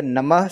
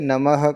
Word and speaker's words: नमः: a pure sandhi but the namah sound is broken a little just because the next word is kalai so you have to say kalai quickly and to maintain the pace of the shlok the pace of the mantra also so that is why you say namah kalai otherwise you will normally say namah kalai that is also okay there is nothing wrong or right about it It's just